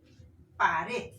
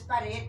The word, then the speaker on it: pared: Por ejemplo, pared, la fuerza de voz está en red. Entonces, pared lleva acento en red, pero no lleva tilde, ojo.